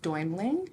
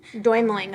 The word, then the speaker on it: Deumling: My last name is Deumling. Deumling. Okay.